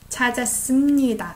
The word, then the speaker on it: 찾았습니다: As you know, I pronounce it as M. 찾았습니다. I don't say 씁니다. It's hard to say.